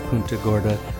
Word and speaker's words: Punta Gorda: trail and for the record I know it's pun Gorda Caroline and I laugh because it's one of